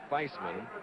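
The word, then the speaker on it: Theismann: And Roger Valdeer, the sports information director at Notre Dame, says the pronunciation of this sophomore's name is Thman, like in Heisman.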